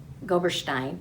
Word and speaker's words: Goberstein: to mention it again faina goberstein no not stein stein she joined us on